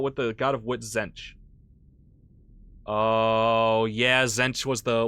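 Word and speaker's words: Tzeentch: that makes complete sense the t is silent by the way just say Zen yep yep I got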